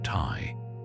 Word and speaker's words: ti: They took the sign for a tangible thing, like an arrow, which in the Sumerian language was pronounced Tai.